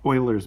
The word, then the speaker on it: Euler: talk about something called euler's method so euler is how you say that euler named after the